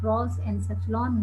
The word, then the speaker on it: prosencephalon: Prosencephalon, mesencephalon. No, just please listen my pronunciation.